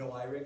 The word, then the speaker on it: noeric: It's noeric, but it's also like oniric, so the noiric is how I'm pronouncing it.